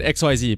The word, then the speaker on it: XYZ: But no, apparently the correct way to pronounce it is Ecks-Why-Zee. But fuck that though, I'm gonna keep calling it X-Y-Z because, I mean, I